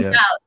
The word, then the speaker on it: doubt: That in doubt. The B is silent.